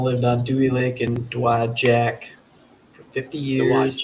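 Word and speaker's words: Dowagiac: Grandma lived on Dewey Lake and Dowajak for 50 years. The I is silent.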